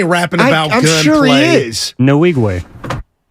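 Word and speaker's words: Nwigwe: about it sure is no wigwe he got the correct pronunciation thank you no wigwe are you looking for me I'm sorry I'm sorry what is it Evan no wigwe guru no wigwe you're you're accenting a different portion of it so I got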